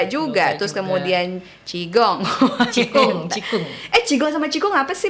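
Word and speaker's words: 气功: Cikung. Qigong sama qigong apa sih bedanya? Lah, I'm confused bacanya sometimes. cikung. Tapi ngomongnya bukan qigong. Bukan. Kalau bule-bule ngomongnya qigong. Ya karena mereka nggak tahu bahasa ngomong Chinese-nya.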